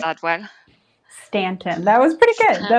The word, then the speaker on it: Staunton: you started with ston right yeah did I pronounce that well Stanton that was pretty good that was pretty good thank you very much uh yeah we are in h Stanton Virginia we're nestled in the shannona Valley of